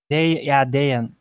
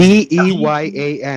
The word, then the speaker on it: Dejan: Dejan. Spell it. Well, it's not exactly pronounced as it is spelled, but it is Deyan. Y-A-N. And just Dejan.